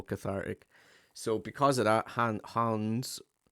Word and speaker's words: Hans: So because of that, Hans. I'm trying to say it like Hands. it's not Just Hans, it's hand. Hans. Hands. It depends where you come from.